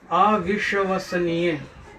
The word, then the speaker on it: अविश्वसनीय: अगला वाक्य देखिए, अविश्वसनीय। अविश्वसनीय, श, अविश्वसनीय, स दंत स।